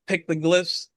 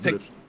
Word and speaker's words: petroglyphs: But what do you think about those pictoglyphs? Am I pronouncing it right? I think it's called Petroglyphs. yeah, Petroglyphs. petroglyphs.